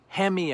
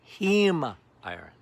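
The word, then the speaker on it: heme: But it's not hemi iron or hem iron.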